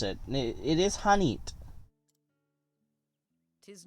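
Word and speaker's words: H'aanit: It would, I guess, just be learning to pronounce it. It is Hanit.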